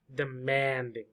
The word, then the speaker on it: demanding: demanding demanding number two demanding demanding so the most important word is the word man the or the syllable man man same as like woman man man demanding demanding demanding